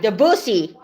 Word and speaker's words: Debussy: Rhymes with Fanny. That's right, Debussy.